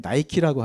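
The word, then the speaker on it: Nike: 것을 혹시 알고 계셨나요 니케의 영어식 발음이 나이키입니다 우리가 나이키 옷을 입거나 신발을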